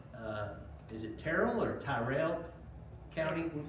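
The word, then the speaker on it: Tyrrell: And uh he uh came first, I guess it's pronounced uh is it Terrell or Tyrell County? We say Terrell.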